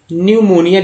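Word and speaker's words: pneumonia: पढ़ेंगे क्या, न्यू, इस यहाँ से पढ़ेंगे एन से, न्यूमोनिया लिखा हुआ है ना, न्यूमोनिया में पी साइलेंट है।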